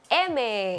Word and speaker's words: Aimer: rada Yuni kini ada MB ya tulisannya Aimere tapi dibacanya adalah MB Yaso Deni lagi naik